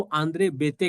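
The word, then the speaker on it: André Béteille: उनका नाम है आंद्रे बेतली. इनको आंद्रे बेते कहते हैं, स्पेलिंग बेतली लिखा जाता है. His name is आंद्रे बेते.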